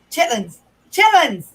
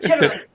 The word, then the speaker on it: chitterlings: Chitlins. Not chitterlings. Chitlins. Nobody knows it by the proper name. At least not down south.